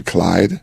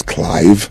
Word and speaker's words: Clive: used to call me Clyde right my name is not Clyde it was Clive Clive like Clive Davis and they couldn't pronounce